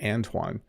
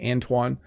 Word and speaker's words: Antoine: So that's how I would say it, Antoine. I'm not sure, Antoine. I'm not sure what the French pronunciation would be, but I would say Antoine. And that's how I would say it. That would be my pronunciation.